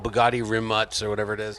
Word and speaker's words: Rimac: Yeah, it's called Bugatti, and it's not Rimac. It's pronounced Rimuntz or something. Right. It's a Croatian Croat word.